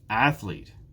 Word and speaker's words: athlete: it's the first one athlete athlete there are two syllables in athlete athlete which one is stressed it's the first syllable again athlete now we get to